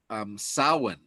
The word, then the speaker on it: Samhain: that was a catholic veneer over the celtic sowen and it's spelled like samhain s-a-m-h-e-i-n but it's pronounced samhain